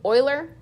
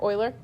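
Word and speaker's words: Euler: 718 and this was a constant name from The Swiss mathematician Leonard o Oiler is how you say that EU l r Oiler just so you know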